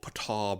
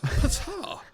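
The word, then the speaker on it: Petyr: Lord Peter Beish Lord Patar Bish like pronounced Patar Petar it's like Peter I know it's got a Y in it but Oh that's amazing.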